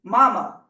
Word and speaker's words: mama: be dependent on me Rachel calls Marie mama with the accent on the second syllable and asked her questions